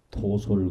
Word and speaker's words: 도솔: 건 도설천 천상의 이름이고요 근데 우리가 발음할 때는 도솔 그러는데 이걸 컴퓨터로 찾으려면이 글자는 투자에다 찾아야 돼요 찾아야 나와요 그래서 이게